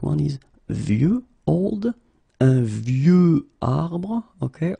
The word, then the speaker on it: vieux: And the last one is vieux, old, un vieux arbre, okay, of course you've got this X at the end, but you don't pronounce it, okay?